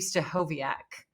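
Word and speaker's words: Stachowiak: stovak yeah that's how you say it Dave stovak coaching for leaders really useful interesting guests on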